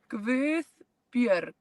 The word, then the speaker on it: Guðbjörg: Guðbjörg. Yeah, Oh, actually. yeah, that R is challenging. Guðbjörg.